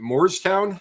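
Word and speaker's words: Moorestown: further coming up through is it moore's town is that how you pronounce it yeah not to be confused with morristown but moore's town new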